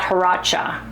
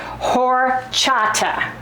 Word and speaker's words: horchata: Paula and Yolanda and you guys, leave me a phonetic spelling of it if it's, I would pronounce this horchata. H-O-R-C-H, horchata, horchata, without the accent.